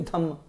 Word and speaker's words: Dhamma: In Buddhism, in the Pali language, R is silent. So Dharma is Dhamma.